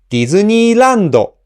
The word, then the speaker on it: ディズニーランド: So for example, when I say ディズニーランド, the accent is on la. So from the first mora D to the accented mora la, I pronounce them in rising tone like this. ディズニーラ。ディズニーラ and reaching its peak high at the accented mora la. ディズニーラ、ディズニーラ and from there on, after the accented mora, the pitch falls.